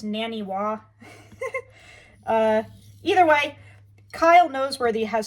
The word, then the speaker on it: Naniwa: I just call them Nanawas, but I think it's Naniwa.